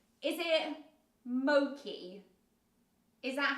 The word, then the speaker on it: mochi: were like no it's Moki and this says Mochi is often mispronounced as Moki in English-speaking countries and then it says